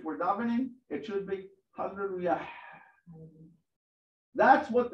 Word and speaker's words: hallelujah: Pronounce the H sound. Well, okay. The way, if you want, just again in the form of teaching, I'm going to say, as if we're davening, it should be hallelujah.